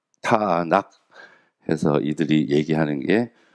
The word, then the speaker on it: 타낙: 나는 것과 니은 발음 나는 거 그리고 키 발음이 나거든요 그래서 타낙 타낙 해서 이들이 얘기하는게요 세 글자를 따 가지고 부른